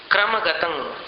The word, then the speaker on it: क्रमगतं: मुक्ता फल प्रकर भूषित भूमि भाग बद्ध क्रम क्रमगतं हरिणाधिपोपी। अब क्रमगतं के अनुस्वार का उच्चारण संहार के अनुस्वार जैसा है।